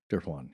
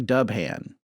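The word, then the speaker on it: Dubhán: It looks like Dubhan. Yeah, Dubhan. But it's Irish Gaelic, a bunch of letters you don't pronounce. Yeah. So to me, it sounded like Durfwan.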